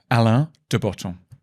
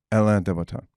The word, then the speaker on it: Alain de Botton: I don't know how to pronounce it. And it's a weird name. Alain de Botton. Alain de Botton.